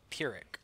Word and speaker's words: Pyrrhic: alright so Internet let's see how this sounds Pyrrhic alright cool so Lord scroll has been killed